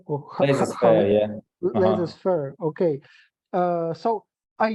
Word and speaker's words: laissez-faire: I cannot pronounce this, like laissez-faire or Laissez-faire, yeah.